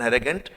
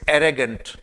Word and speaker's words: arrogant: Be called as एन एरेगेंट smile. सो ये था एरेगेंट। और इस पे प्रोनाउंसिएशन देखिए, इट्स एरेगेंट नॉट एरोगेंट।